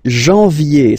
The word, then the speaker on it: janvier: But anyway, janvier. So that's the way to pronounce it. Janvier, A-N, en, okay? And then yé, yé, yé.